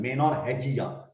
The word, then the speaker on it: menorrhagia: Pronunciation menorrhagia.